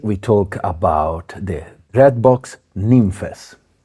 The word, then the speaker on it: Nymphes: Today we talk about the Dreadbox Nymphes, which is pronounced in the Greek way, not nymphs, nymphes.